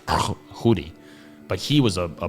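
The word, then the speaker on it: Tschudi: There was a guy called Chudy. I think his name was like T S C H U D. And if I know how Swiss Germans pronounce it, something like Hoodi.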